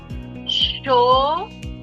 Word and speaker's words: chauffeur: It is pronounced as chauffeur. Chauffeur. I can see some pronunciation clarifications. Is that quite it? Yes, you're in fact right. There are some exceptions where R is also not pronounced.